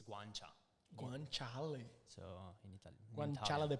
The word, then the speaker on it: guanciale: The Guanciale. Yeah. Guanciale. They put the pig cheeks. Eles colocam a Yeah. bochecha do It- porco no carbonara. It pra makes fazer sense because like chick it's guancia. guanciale.